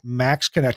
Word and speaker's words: MaxxKonnect: The website Max Connect, I know it's spelled funny, MAXXKONNECT.